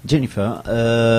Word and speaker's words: Jennifer: Il faut bien prononcer l'accent anglais. Jennifer, qui est une jeune